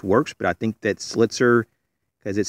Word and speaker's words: Slitzer: today we have a slit sir knife slit sir um let me just go ahead and spell that out for you because it sounds a little different SL IT zer these